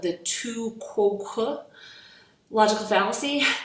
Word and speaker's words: Tu quoque: And it is called the Tu Quoque logical fallacy. There are some other pronunciations of that, like Tu Quoque, and I even saw one, a French speaker calls it Tu Quoque.